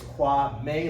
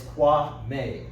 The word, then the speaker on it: Kwame: And my name is Kwame, like the month May. Because sometimes, people, they'll ask, how do you pronounce it? And it's Kwame, like the month May.